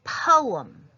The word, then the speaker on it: poem: The word is poem, and it has 2 syllables, not 1.